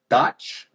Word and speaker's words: Dach: Ladies and gentlemen, Dach, did I say it right?